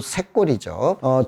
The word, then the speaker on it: 샛골: 조동은 곧 샛골이죠. 조동이라고 쓰고 샛골이라고 읽는다, 혹은 조동이라고 쓰고 새말이라고 읽는다, 이렇게 되어 있죠.